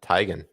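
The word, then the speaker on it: Teigen: that's that's pronounced yeah tigan tigan everybody says tan but even chrisy says it's tigan it's tigan tigan anyways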